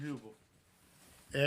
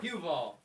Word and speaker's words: Huval: That's Huval. Hubbell. Huval. Huval.